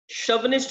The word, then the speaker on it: chauvinist: शवनिस्ट मत बोलना, चा वगैरह का साउंड मत लेकर आइएगा, शवनिस्ट प्रोनाउंस करते हैं हम इसको, शवनिस्ट।